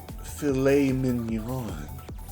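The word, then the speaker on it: filet mignon: I'll have the the fillet mignon. That's pronounced fillet mignon.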